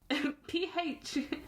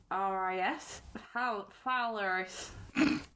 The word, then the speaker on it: Phalaris: I'm not going to try and pronounce that. The tyrant No, go on. P-H-A-L-A-R-I-S? Phalaris.